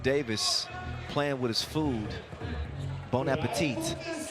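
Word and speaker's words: bon appétit: Bonapetit. Bonapetit. You don't pronounce the T at the end.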